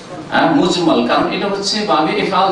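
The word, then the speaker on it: مجمل: ভুল করে অনেক উচ্চারণ করে মুজাম্মাল না, একই রকম করে উচ্চারণ করে, কিন্তু আসলে মুজাম্মাল না, মুজমাল।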